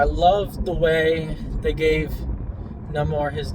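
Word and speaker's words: Namor: you know leading up I always pronounce the name more and then when you hear them pronounce it of course the actor's Mexican it's going to pronounce it no more and the way they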